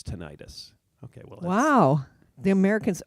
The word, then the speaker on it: tinnitus: the American and layperson pronunciation often sounds like tinnitus. Oh, so the doctor has to call it tinnitus. Yeah. And then, so which one is right? Well, it depends. Either. Even the American Tinnitus Association, also known as the ATA, can't decide. They say both pronunciations are correct. Yeah. They say. But for the record, they use tinnitus.